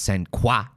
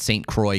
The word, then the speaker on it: Saint Croix: saint croix count is i think it's it's it's french it's c-r-o-i-x i'm pretty sure it's supposed to be pronounced sen qua but i think in wisconsin they call it saint croix county wisconsin uh to minneapolis according